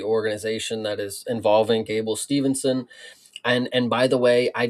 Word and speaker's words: Steveson: things I've heard people I've heard people pronounce it Steveson, so I don't know if that if that is better for you or if that's more correct. But yeah, Steveson is how I've heard it pronounced and how I pronounce it.